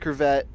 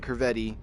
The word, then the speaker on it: Corvette: I know it's pronounced Corvette, but I like calling it Corvetti, and I might mess